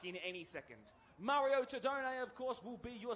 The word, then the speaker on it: Tedone: Mario Tedone, of course, will be your centre referee, if you want to be accurate to the pronunciation.